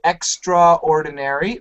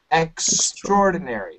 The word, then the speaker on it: extraordinary: job with this word a lot of students want to say extraordinary which is fine but when we say it fast we say extraordinary yep and that's what